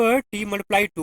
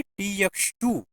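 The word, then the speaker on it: T×2: प्रदान किया जाता है इसको आप टी मल्टीप्लाई टू पढ़ सकते हैं वैसे इसका जो उच्चारण होता है वो है टी एक्स टू इसको बोलते हैं टी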